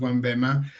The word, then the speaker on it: Onebema: or well at least the name it's actually pronounced one BMA and er BMA in the ancient in ancient